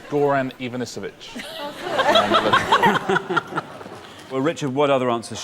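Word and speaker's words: Goran Ivanišević: Well, let's clear up the mysterious case of Ivan Gorovich. You did get all the right syllables, just not necessarily in the right order. It's called Goran Ivanisevic.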